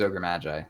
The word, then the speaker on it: Magi: okay yeah ogre Mai there's a bunch of different ways to say ogre Mage that's just I feel like the least offensive way to say his name is his name is ogre Magi like that's mag calling him ogre McGee is just fun okay so it's like